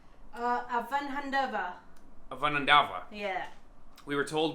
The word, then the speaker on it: Avanhandava: We are on a street called Avanhandava. Avanhandava. Yeah. We were told by a local Brazilian, it's hard to say even for Brazilian people. Because the emphasis is quite often on the last syllable.